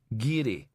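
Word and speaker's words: Garioch: It's pronounced Giri. The area around Inveri. Elizabeth Nickel works there. Worked there. Giri. the more the hells it spelled Gary. He went round the office picking up the dirty mugs, muttering.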